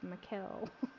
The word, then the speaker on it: Mikkel: And it's spelled kind of like Miguel, but with a K. It's Mikkel.